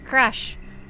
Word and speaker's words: Crush: you're a lifesaver oh you pronounce it as Crush Not Crash Crush as in like crushing crashing something it's hard to get messages